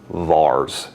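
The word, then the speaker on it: VAR: the symbol V A most commonly vs is how that's pronounced and you'll notice that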